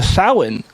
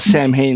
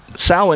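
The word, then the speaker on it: Samhain: was for it was part of the the Sal which is you know it's people call it Sam hay cuz they don't know how to pronounce it but um Sal which was the origins of of of Halloween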